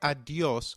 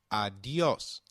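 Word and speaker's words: adiós: Did you notice the accent on the O in adios? If a word is marked with an accent, then that syllable receives the stress. So try adios once again. Adios.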